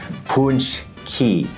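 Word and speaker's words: pączki: if you're moving here you have to be able to pronounce the word and it's pronounced and let's get that up on the screen punch key and it's so much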